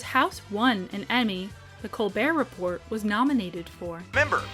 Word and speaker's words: Colbert: But other than during the writers' strike, the T is very silent.